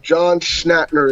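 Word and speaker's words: John Schnatter: Do you know who uh John Schnhater is?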